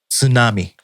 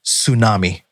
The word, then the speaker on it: tsunami: It's tsunami, or pronounced in English, tsunami, right?